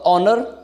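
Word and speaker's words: honour: आप बोलोगे सर इससे होनर लगाए शुरुआत में एच है आपको बता दूं भले ही शुरुआत में एच हो लेकिन जो एच शुरुआत में है वो साइलेंट रहती है आप पूछोगे फर इसका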